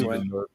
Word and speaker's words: Villeneuve: Villeneuve.